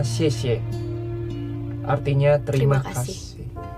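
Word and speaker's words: 谢: Tulisan di atas kue bulan ini bacanya xie.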